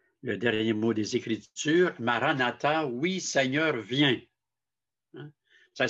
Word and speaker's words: Maranatha: Alors, si on utilise le mot Maranatha, on le dit, il y a 4 syllabes, hein, Maranatha. Donc, on le dit de façon normale, avec douceur, Maranatha.